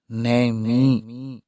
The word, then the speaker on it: نیمی: سے ہے، اس میں اس دیہات کا تلفظ نیمی، یعنی نون اور میم کے کسرہ کے ساتھ اور یا کے سکون کے ساتھ بتلایا اور فرمایا یہ عظیم